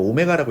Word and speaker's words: 오메가: 이거 오메가라고 읽는 거야.